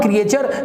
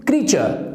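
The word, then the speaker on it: creature: This is नॉट क्रिएचर, this is क्रीचर, this is क्रीचर, because here are is silent, ठीक है।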